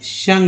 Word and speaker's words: sung: सा ले, तो चलिए शंग लेते हैं, SUNG, सिंग सॉन्ग शंग। पास्ट ये है वर्ब का तीसरा रूप, ठीक है। तो यू का उच्चारण यहाँ पर आ के रूप में है, शंग।